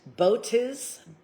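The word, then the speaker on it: Botis: President Botiz, spelt like boat is, offers insights about past, present, and future events.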